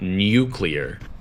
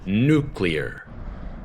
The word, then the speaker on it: nuclear: on to another word that's quite difficult to pronounce and that is the word nuclear nuclear it's not nuclear it's nuclear n-u-c-l-e-a-r nuclear like a nuclear bomb or God